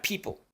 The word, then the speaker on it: people: expliqué y luego la palabra people la p que es un poquito más explosiva que en español la i larga la p y entre la p y la l hay un sonido vocálico muy pequeño es una shua pero una shua todavía más reducida que de lo normal people y finalmente la Dark l esta l retroflex en donde la punta de la lengua se hace más hacia atrás se curvea hacia atrás people open Ah en esta